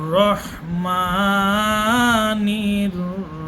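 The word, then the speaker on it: الرَّحْمَٰنِ: ভুল, হার উচ্চারণটি এখানে স্পষ্টভাবে আপনাকে আনতে হবে। আর রহমানির রহিম।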